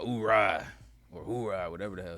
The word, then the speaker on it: oorah: The Marines, they kind of pronounce it all oorah. Hoorah. Army, you just who?